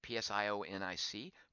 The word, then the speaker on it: psionic: If something is using, say, a psionic attack, a psionic attack, that's how you pronounce that word. It's P-S-I-O-N-I-C, psionic, as I learned in 7th grade and have not forgotten.